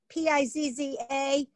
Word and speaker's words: pizza: popular food that a lot of people eat p-i-z-z-a we don't pronounce disease in that word is this but